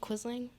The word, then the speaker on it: quisling: there any alternate pronunciations there are no alternate pronunciations quizzing q u i z l i n g quisling q u i s l i n quizzing